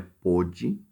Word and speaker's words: pôde: O primeiro é pôde, o O é fechado, e o segundo é pode.